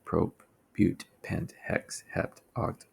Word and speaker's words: prop: If it's three, it is prop, or prop, I should say. But you'll pronounce it prop, as in propane.